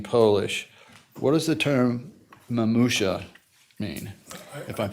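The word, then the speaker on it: mamusia: What does the term mamusha mean? If I'm pronouncing that correctly?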